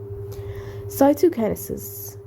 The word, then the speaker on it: cytokinesis: be separated okay and becoming like two cells cytokinesis okay this is the correct pronunciation I know right now cytokinesis is the